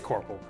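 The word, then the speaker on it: Coirpre: So we got Jubal, Romeo, Lucia, and our boy, oh, excuse me, Kyrpre. How do you even pronounce that? Kyrpre. Kyrpre. Is that French? I don't even know how you pronounce that. It's Corporal.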